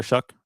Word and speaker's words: Shuck: Um, midway through the year they switched to Tyler Shuck as their quarterback. Did I say it right? It's not show. It's Shuck.